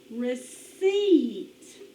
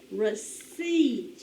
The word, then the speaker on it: receipt: what it's called uh receipt receipt say that word receipt you hear the e in there it's spelled with e i receipt all right so